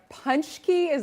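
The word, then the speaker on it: pączki: Your favorite indulgent is called let me get this right, a punchki? That's a type of donut? What exactly is this? You pronounce it very well, actually.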